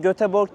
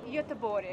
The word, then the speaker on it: Göteborg: G'ler Y diye okunuyor. Yani o götgatan değil. Götegatan değil aslında. Götegatan. Mesela yıllarca biz göteborg dedik. O da Evet. Aslında çok yanlış. Nasıl deniyor? Yöbori.